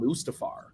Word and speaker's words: Mustafar: Obi-Wan fights Anakin on Mustafar I should probably check with Joe to make sure I pronounce that correctly is it Mustafa or is it Mustafa it's Mustafar I was joking Tim